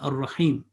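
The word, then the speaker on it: الرحيم: Again, the last word of tasmiya, ar-Rahim. Again, alif is silent, lam is silent. There is no sign or alamat on that. But they are written, they are not pronounced.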